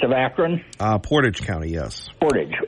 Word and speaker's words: Portage: there's a sheriff in Portage County which is east of Akron? Portage County, yes. Portage. Okay, I'm sorry. I gave it the frog pronunciation.